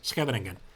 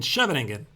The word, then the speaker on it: Scheveningen: I pronounce scavening because I was essentially saying all my life Sicilian cheving and then some Dutch people they heard this and they were raising their eyebrows. What? What is cheving? What what not shoving? What are you talking about? And this is when they taught me. Actually, I'm not really sure if my pronunciation is perfect, but I think it's scavening.